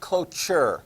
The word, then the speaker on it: cloture: that's good vote of looks like closure but it's pronounced cloture although if you think